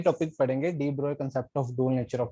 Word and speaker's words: de Broglie: ही was unable to explain, he was unable to explain de Broglie, डी ब्रोए, इसको कई लोग डी ब्रोगली भी बोल देते हैं, वो करेक्ट प्रोनाउंसिएशन इसकी डी ब्रोए है।